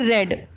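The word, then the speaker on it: read: रीड का third form होता है रेड, स्पेलिंग सेम होती है बट प्रोनाउंसिएशन उसका होता है रेड।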